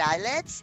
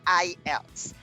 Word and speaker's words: IELTS: right so everybody uh the correct pronunciation of that words is not islets it's ielts international english language training